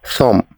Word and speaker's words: thumb: The B is the silent letter in this word, so we say thumb.